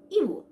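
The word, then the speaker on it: ibu: যেখানে যেখানে আমরা আই দেখবো মালয় ল্যাঙ্গুয়েজে, সেখানে সেখানে আমরা ই ই ই, ফিট, ই ই ই উচ্চারণ করবো, ওকে? সো বেসিক্যালি আই এর উচ্চারণটা তাহলে হবে ই ই ই, ওকে?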